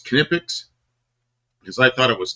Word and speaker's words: Knipex: How do you pronounce it? Knipex. And you know how I know it's Knipex? Because I thought it was Nipix.